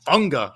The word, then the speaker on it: Fuaga: I mean, I can't help but be excited about Fuaga. I mean, I've heard so many different ways, by the way, we pronounce his name. Like Dom C said that it's Funga, according to Funga himself.